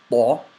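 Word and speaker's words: ط: Arabic letter ta, but the reason it's written with a capital T is because it's of its thickness and a slight throat involvement. So the way it's pronounced is the letter ta, ta.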